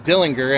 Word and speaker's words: Dillinger: We found out that the proper pronunciation is Dillinger.